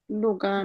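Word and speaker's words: Lugano: সুইজেস উন্ন want in লুগ্নো লুগাও লুগানো কি হবে এটা হ্যাঁ এটা একটা শহরের নাম তো এটা হলো লুগানো এটার উচ্চারণ ভুল হলে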